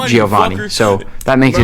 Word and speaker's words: DiGiovanni: Did you get like, that Captain How America feeling to from pronounce seeing Nick him? DiGiovanni.